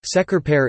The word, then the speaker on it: Şekerpare: Mainly prepared by baking some soft balls of almond-based pastry dipped in thick lemon-flavored sugar syrup, şekerpare is pronounced şekerpare in Turkish.